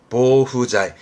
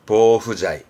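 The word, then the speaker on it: 防腐剤: 발음은 모후자이. 그러니까 부패를 방지하는 그런 원료인 거죠. 방부제, 보후자이.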